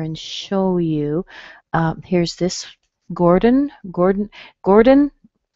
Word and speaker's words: Gordon: So if I say it this way, I'm going to say gore. So this or is the same as in bore and store and more. And then, of course, we use a D and a schwa and an N, and you get Gordon, Gordon.